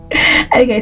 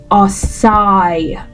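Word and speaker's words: açaí: Okay, so many times you hear people wrongly pronounce it as okay or akai or something, but no, it's Açia, and it's a noun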